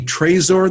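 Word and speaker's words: Trezor: is open source at this boil it's the tracer then spell that for us because it's not it's a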